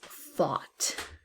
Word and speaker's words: fought: Next is fought. Fought. Again, there's a GH, but we do not hear them, those letters.